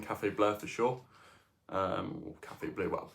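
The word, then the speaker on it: Café Bleu: blur for sure um Cafe blur BL that's how you say it in French but anyhow thank you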